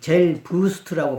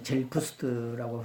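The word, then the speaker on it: Selbst: 그 젤부스트라고 발음하면 안 돼요. 이게 B가 P 발음이 나요. 그래서 이제 독일어 아는 사람들은 이제 젤푸스트라고 발음을 합니다.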